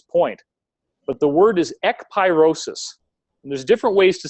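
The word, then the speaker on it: ekpyrosis: me before this point but the word is e pyrosis and there's different ways to spell it but you can look it up right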